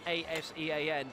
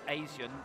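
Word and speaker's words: ASEAN: 88 Southeast Asian Games notice the Asian a Sen but actually if you pronounce it as it spelled Asian then honestly you're thinking of the Asian Games those are those are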